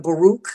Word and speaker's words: Baruch: So it's like you got to pick and choose your battles, pick and choose, and know your blessings, your Baruch. That's how you say it in Hebrew.